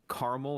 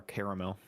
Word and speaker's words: caramel: way shape or form caramel or caramel caramel um for me it's situational situational I'm in a hostage situation uh would you like a piece of caramel it's caramel bang well no it's like caramel apples or caramel Sundaes caramel apple caramel sundae type of stuff okay that actually makes